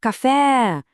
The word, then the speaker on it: café: Isso, seria tipo café! Viu só como o fé é que estica? Ele se alonga naturalmente.